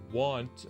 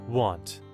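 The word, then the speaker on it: wont: Want. Like, how do you pronounce this dictionary? Want. Want. So, like the same way you would pronounce it with an A.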